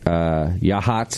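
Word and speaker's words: Yachats: You mentioned Logston, Yahats, is that how you say it?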